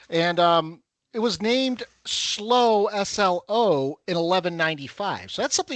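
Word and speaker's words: Slough: So hello slow UK. It's it's spelled like we would think sloth.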